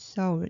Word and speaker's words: Seoul: But a lot of Westerners, they pronounce it Seoul. It's like S for sun. But in Korea, no Korean people pronounce Seoul because this is Seoul. Seoul, not double. So it should be Seoul.